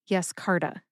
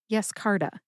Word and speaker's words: Yescarta: However, no emphasis is indicated in the literature for Yescarta, but I personally tend to emphasize that middle syllable, car. See if you can hear that emphasis when I say it again. Yescarta. Yescarta.